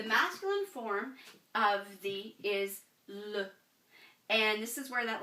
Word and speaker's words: le: So, the masculine form of the is le. And this is where that little schwa comes into play, because this is not le, it is le. It's very slight, okay?